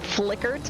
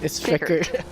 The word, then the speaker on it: Fickert: It's not Flickert. It's not Dickert. It's Fickert. There he goes in the second row with a 51.7.